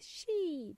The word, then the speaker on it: sheet: sounded similar was sheet longer e sound sheet spelled as s h